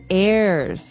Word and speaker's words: heir: pod, and to his heirs. This is our next word. What is an heir? Now, if you notice, the h is silent there.